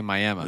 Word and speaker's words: Miami: like that over there they say miam they do say miam it's not Miami you know if someone's